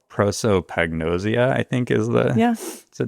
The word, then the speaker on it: prosopagnosia: A great example is that my wife and my son both, I'm going to absolutely mispronounce this word, but they have a condition called prosopagnosia, I think is the...